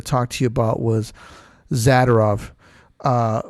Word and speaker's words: Zadorov: about was zadov uh for some reason everybody calls him zorov which I highly disagree with the pronunciation of his name we don't say fed F fedorov we say federov so I I figure if we say zadov it's not zadorov anyways yeah maybe we